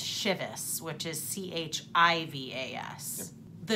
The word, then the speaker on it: Chivas: Now, my name is spelled C-H-E-V-A-S, which is pronounced Chevis. I believe that the bottle is Chivas, which is C-H-I-V-A-S.